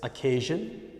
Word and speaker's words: occasion: there's no such word next occasion occasion occasion to occasion occasion no such word okay let's try to